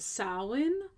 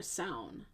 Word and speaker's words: Samhain: It is rooted in the traditions of Samhain or Samhain, as some would pronounce it. It's spelled Samhain.